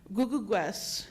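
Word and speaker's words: Kukukwes: Googleguest is how you pronounce it. You pronounce the K's as G's.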